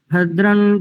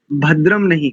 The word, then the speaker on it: भद्रं: आपने अशुद्ध किया है पहले भद्र नहीं करेंगे भद्रन का वर्ग का अंतिम अक्षर भद्रं करने विश्रण याम